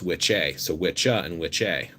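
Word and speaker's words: wicce: is again that's fine there's also a female word which has an e on the end w-i-c-c-e so it's which a so which in which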